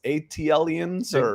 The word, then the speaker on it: ATLiens: all you know how do you say it atlion's ATLiens we're all ATLiens that's right yeah no and